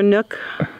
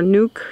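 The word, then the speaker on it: nuc: Red Pepper seemed to know, you know, that we had some extra nook, or nuke, she said, I said it wrong, in our garden shed.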